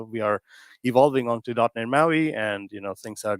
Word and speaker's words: MAUI: The P is silent because Maui does not sound very well.